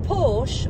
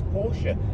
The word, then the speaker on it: Porsche: Right, Dominic, is it Porsche or Porsche?